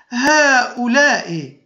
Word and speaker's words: هؤلاء: فمثلا هذا، نقول اسمعوا جيدا، هذا، هذه، هذان، هؤلاء. فنسمع ألفا بعد الهاء، إذن تنطق الهاء بالمد هاء ولا تكتب الألف.